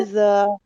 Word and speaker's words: إذا: আর যখন লাগাবেন জিহ্বার আগাটা দুই দাঁতের আগার সাথে, তখন জিহ্বাটা একটু বের করে দিবেন। বের করে দিলে إذا দালটা পুরোপুরি নরম হবে। নরম হওয়ার إذا হচ্ছে এরকম ভাবে জিহ্বাটা বের করে إذا দিয়ে উচ্চারণ করলে পুরোপুরি নরম হয়।